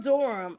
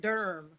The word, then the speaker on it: Durham: But it's Well, I'm not from Durham. Okay. But thanks for pronouncing it instead of saying durm.